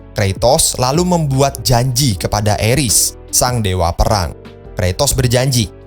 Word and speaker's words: Ares: potensial yang bisa membantu Eris dalam keinginannya. menggulihkan Olympus. Oh iya, gua ngomongnya itu Eris ya, karena kalau Ares takut diprotes. Karena kalau gua baca pronoun-nya seperti apa itu dibacanya Eris.